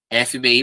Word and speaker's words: FBI: FBI porque a gente fala FBI, tá? A gente não pronuncia como uma palavra só, não.